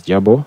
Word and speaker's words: GRBL: the first one is grbl which is usually pronounced as Jabo and the other one is the universal g